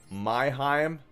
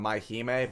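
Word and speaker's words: Mai-Hime: we got virtual world my Heim I know it's pronounced on mahime but it's just funny to say that my Heim you see oh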